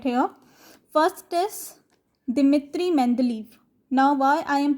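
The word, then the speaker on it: Dmitri Mendeleev: He had a Russian name, so we are going to pronounce his Russian name. It is Dmitry Mendeleev.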